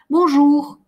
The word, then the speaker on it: bonjour: Это не «р», это «х». Бонжур.